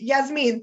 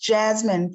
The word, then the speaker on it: Yasmin: Yes, Yasmin, thank you. Go ahead. It's pronounced Jasmine, Professor.